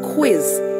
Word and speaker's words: quiz: For example, quiz. That's Q-U-I-Z. Queen. Q-U-E-E-N. Now, you do not pronounce that U.